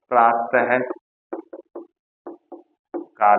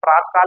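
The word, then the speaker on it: प्रातःकाल: उच्चारण सही होना चाहिए हम इसे प्रातकाल नहीं बोलेंगे हम इसे बोलेंगे प्रातः काल इसे क्या बोलेंगे प्रातः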